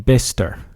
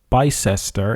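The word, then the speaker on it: Bicester: electric van in the arrival micro Factory in bister at least that's how some say it's pronounced however apparently I've been pronouncing it by sister and that's incorrect so I do apologize so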